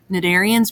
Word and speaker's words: Cnidarians: included in this phylum they're called nadarians because they have tentacles and those tentacles are lined with stinging cells called mendocites again the sea is still silent uh venom is contained